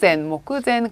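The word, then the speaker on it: 目前: 자, 그래서 작품의 마감이 모쿠젠 그대로 음독하시면 돼요.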